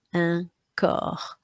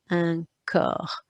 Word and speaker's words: corps: Okay, this word for body, the P and the S is silent. It's got the O sound in the middle with a ch, so you pronounce it un corps, un corps.